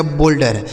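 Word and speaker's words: boulder: नहीं शोल्डर ठीक है इसे बाउल्डर नहीं बोल्डर ठीक है ना तो ओ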